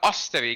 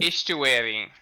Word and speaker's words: estuary: An estuary or an ostuary?